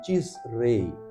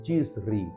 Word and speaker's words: Tisrei: E essa festa era era celebrada no dia primeiro do sétimo mês, também chamado mês de Tisrei ou de Tisri, conforme algumas pronúncias do hebraico, o que corresponde ao nosso setembro e outubro.